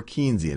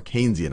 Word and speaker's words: Keynesian: more one that's more Keynesian. And some of what we've talked about, or Keynesian, I should say, I already did my first mispronunciation, one that's a little bit more Keynesian.